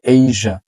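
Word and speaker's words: Asia: laser না লেজা লেজা এইজা এইজা আমরা বলি এশিয়া বাট হচ্ছে এইজা মালয়েশিয়া আমরা বলি মালয়েশিয়া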